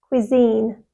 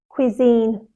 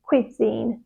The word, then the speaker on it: cuisine: you say this word the correct pronunciation is cuisine cuisine again the first syllable is quick and soft and the second syllable is stressed and long cuisine cuisine students get this the wrong way round they put the stress on the first syllable and they soften the second one so they say Quine quisine but it's cuisine quisine for example I love